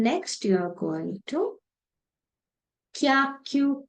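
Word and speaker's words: きゃ: It becomes kya.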